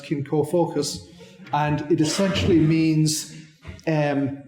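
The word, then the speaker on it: cin comfocuis: kin kish in in English in Irish it's pronounced kin ko focus and it essentially means um community or kin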